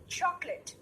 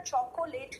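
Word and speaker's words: chocolate: है, जैसे table, book, चॉकलेट। बेटा चॉकोलेट नहीं बोलना, इट्स चॉकलेट।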